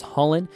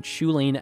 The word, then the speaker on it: Chulane: You may have heard me or other people pronounce this commander as Chulane, and the reason for this is I believe it's based off of a foreign name, which would be pronounced Chulane with a little inflection at the beginning.